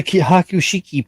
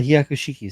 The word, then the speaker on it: Hyakushiki: my God what's up how's the hakushiki Paul or the hyakushiki says Miguel he didn't he didn't miswrite it I just mispronounced it move on to